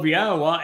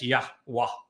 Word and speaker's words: Yahowah: they came up with an amazingly foolish and inaccurate rendering, even pronunciation of Yahowah as Yahweh.